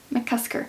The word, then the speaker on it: McCusker: annotated by okay what how do you actually say his name Paul mccusker oh I always thought there was an L in there mccusker so I think he was